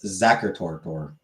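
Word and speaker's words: Sachertorte: fair and it turns out I was actually pronouncing it wrong it's Zach toror Zach or toror so it's France Fran zacher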